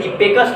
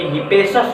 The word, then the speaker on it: Hippasus: Generally हमारे NCERT book में हिप्पेकस लिखा हुआ है, लेकिन मुझे लगता है वहाँ थोड़ा स्पेलिंग मिस्टेक हुआ है, क्योंकि हिपेसस होता है नाम उसका स्पेलिंग होता है HIPPASUS, लेकिन एनसीईआरटी में दिया है HIPPACUS।